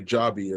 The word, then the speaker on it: Joby: company there um Archer and uh and and Joby also say jobby as they pronounce it right so a lot of these